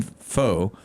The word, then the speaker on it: Foe: He says it's pronounced like foe, like how like a rapper or Southern people would say the number 4.